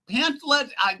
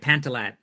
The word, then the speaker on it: Pantilat: Stephen Pantlet. Help me with the pronunciation. Yeah, you got it. Pantallet.